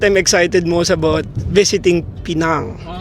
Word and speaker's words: Pinang: Pinang is bahasa Malay and pinang but our local Chinese Penang. Penang. Okay. Okay. It's okay. So guys, it's pinang. So the right pronunciation is pinang. It's not pinang.